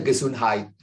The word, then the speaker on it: Gesundheit: Bacanya Gesundheit.